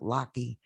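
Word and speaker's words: Lachey: his name is locky l-a-c-h-e-y but they pronounce it lockheed doley d-o-d-o-l-e-y he's in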